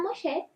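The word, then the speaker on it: משה: Y este niño fue encontrado por la hija del faraón y le puso Moisés, porque en el hebreo, que se pronuncia Moshe, significa sacado de las aguas.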